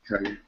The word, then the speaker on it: Kage: Hey, welcome, Kage, right? I pronounced that right? Kage. Kage, yeah, Kage. Okay. Hey, welcome, man. It's Japanese. It's right there. Yep, you got it right.